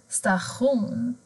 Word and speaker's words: station: Har du tion tillsammans så blir det också ett annat ljud. Då blir det sh, sh-ljudet. Station, addition.